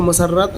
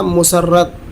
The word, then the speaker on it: مسرت: و سلطنت کی مسرت، یہ لفظ مسرت ہے، اس کو مسرت نہ پڑھا جائے، یعنی میم پر پیش پڑھا جائے گا، زبر نہیں۔ اردو کا صحیح تلفظ ہے مسرت، نہ کہ مسرت۔ مسرت اس کی جدائی